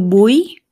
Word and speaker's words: buy: to buy y también aquí notarás que la u no decimos tu Buy sino to buy básicamente se vuelve una a y significa comprar a